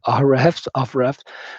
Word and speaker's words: Ahrefs: So you can use BuzzSumo, and then there is another website as well, which is called Ahrefs. I don't know how it's pronounced. It's Ahrefs.